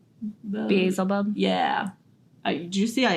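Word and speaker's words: Beelzebub: and oh how do you say that name bzel buub Basel buub yeah do you see I intentionally kept it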